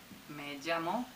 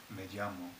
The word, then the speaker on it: me llamo: And I also hear that it sounds like a J, like you're saying me llamo.